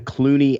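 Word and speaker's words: Cluny: remains what European country is home to the Clooney Abbey that's spelled c-l-u-n-y a former Benedictine Monastery established in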